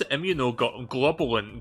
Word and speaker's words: immunoglobulin: Pronounce IMMUNOGLOBULIN. One sec. Immunoglobulin. Say that again. Immunoglobulin. Oh, right, this is the British pronunciation. You guys want to hear the American one?